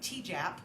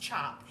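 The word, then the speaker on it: tjap: And these designs are made with something called a chop. It's pronounced chop. It does not look like that. It looks like T-Jap. It's T-J-A-P, but it's pronounced chop.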